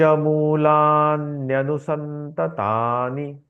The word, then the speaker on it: मूलान्यनुसन्ततानि: हाँ, अधश्च उच्चारण जैसे लिखा है वैसे मूलान्यनुसन्ततानि। ही उच्चारण करना है। उसका जी। संधि विच्छेद करके उच्चारण नहीं करना है।